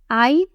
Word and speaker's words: ع: Ayn has no dots and comes from the middle section of the throat. It is not a vowel, so avoid pronouncing it as e, u, or e sounds. It is a unique Arabic sound.